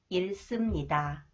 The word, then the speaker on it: 잃습니다: When the final consonant 리을 히읗 is followed by 시옷, should is pronounced s sound. 잃습니다.